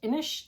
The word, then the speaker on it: Inis: I think it's pronounced Inish, that Irish uh area control game, like the big box version.